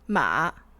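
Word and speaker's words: 马: So and this way will be pronounced ma, which is horse.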